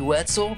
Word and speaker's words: Wetzel: out goes to Holly Wetzel because I'm hungry and your name rhymes with pretzel and if you're in